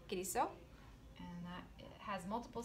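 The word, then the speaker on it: Kilisou: Thank you, my dad's name, Kiriso.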